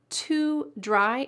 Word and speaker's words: to dry: This word to dry is going to be reduced. Often the word to is reduced in phrases. And listen to how this one is. Set it to dry. Set it to dry. To dry. I'm not even saying the O, just to dry.